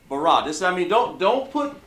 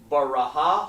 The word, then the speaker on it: bara: Never pronounce something that's not there. I don't have an H there. It sounds like bara, but if it's not there, if I don't put it there, you can't pronounce it. And if I had it like that, I could say baraha or barah. But I didn't say that. I just said bara.